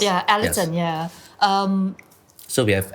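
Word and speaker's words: Elaton: like um well um our company is called Alon mhm right oh that's how it's pronounced yeah Alon yeah um so we have Alon Asia services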